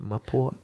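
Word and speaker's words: malpua: It was, I think it was like, I don't know, at least 8 to 10 course feast and malpura or mapoa, I think they pronounce it, mapoa.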